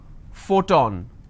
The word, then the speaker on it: photon: sound but not always for example if i have the word which is photon now here the letter p needs to be combined with h and it becomes an f the first sound for example if i